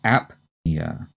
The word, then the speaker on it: apnea: heard of before and here the stress is on the first syllable and we strongly say the p and this is apia a p n e